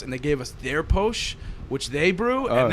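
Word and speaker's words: Pox: It's called Posh. It's spelled P-O-X because the indigenous people there pronounce an X like a sh.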